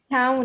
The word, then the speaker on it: counted: In the past, how do we pronounce count? Can you tell me? Counted.